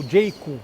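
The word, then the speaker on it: Jaecoo: cabeça do vídeo omoda omoda e jaik são duas marcas ou jik né que é a pronúncia correta duas marcas estão chegando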